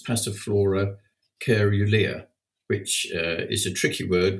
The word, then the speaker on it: caerulea: You can also pronounce it cerulea, cerulea, and all the pronunciations are correct. It's whatever you want to do is fine.